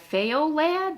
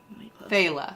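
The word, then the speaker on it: faoladh: yeah and it doesn't it's not pronounced like it's spelled I was going to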